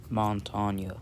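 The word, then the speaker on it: Montagne: So, I'm going to have to put OSA right above right below Montana, which is actually how you pronounce it.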